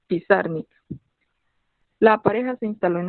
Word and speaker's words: Pizarnik: erróneamente en cualquier caso alejandra lo pronunciaba acentuando la segunda fila pisarme la pareja se instaló